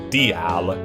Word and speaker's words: dial: But in Welsh, dial – pronounced 'dee-al' – means revenge.